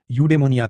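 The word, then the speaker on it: εὐδαιμονία: अरस्तु द्वारा इस्तेमाल किया गया ग्रीक शब्द यूडेमोनिया था।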